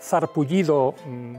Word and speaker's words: sarpullido: Bueno, yo he vivido en Cádiz, entonces en alguna zona de Cádiz, Barbate, Conil, probablemente sería zarpullido, sonaría eso. Claro, sonaría así.